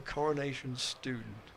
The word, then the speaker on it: Coronation Stone: It should be pronounced as a Coronation Stoon.